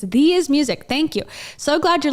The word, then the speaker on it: These Music: But first, I want to say thank you to These Music. I think it's These, not Thesis. That was my first pronunciation, but I think it's These Music.